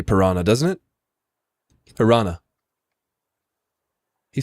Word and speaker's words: Piranha: It's pronounced like piranha.